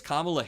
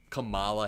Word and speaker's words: Kamala: paint because that gives kamla Harris doing this gives kamla Harris it pisses me off when people say his uh her name wrong Kamala Harris that pisses me off